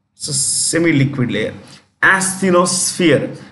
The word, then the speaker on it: asthenosphere: semi-liquid layer, like called asthenosphere. It's a gummy layer. It's a semi-liquid layer. Asthenosphere. When you pronounce this, it is SF, not SP, SF.